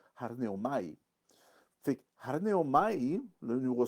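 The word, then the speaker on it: ἀρνέομαι: C'est prononcé arneomai.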